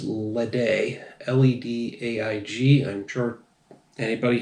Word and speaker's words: Ledaig: for the day now I'm basing that on the pronunciation of Laphroaig I'm guessing this is ledee led AIG I'm sure